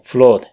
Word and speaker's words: flood: en inglés esta palabra, que significa inundación, se lo pronuncia con una A corta.